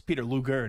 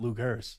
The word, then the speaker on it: Peter Luger: the big birthday bash well we go to Peter lugers every year yeah oh best steakhouse in the country I hate to be that guy though nor deep nor Deeks it's Peter Luger not Lou Gerst well well well it's it's sort of like